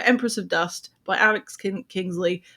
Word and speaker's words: Kingsley: of Dust by Alex Kingsley. I nearly said Kinsley. That's not your name, Kingsley.